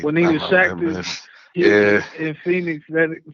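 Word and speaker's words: Shaqtus: Did you ever hear about the thing when he went to Phoenix, Shactus? Mm-hmm. Because it rhymes with cactus. Right. When he was Shactus, He Yeah.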